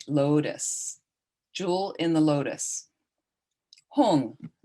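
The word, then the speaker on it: hum: jewel in the lotus hong or home h-u-n or h-u-n-g is usually a closer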